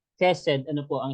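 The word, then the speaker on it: חסד: po yan sa hebreo ang ibig sabihin po nan ay ked and you can pronounce is you can pronounce as ked Ano po ang spelling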